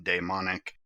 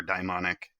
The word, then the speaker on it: daimonic: Other people may use the pronunciation daemonic. I prefer daimonic.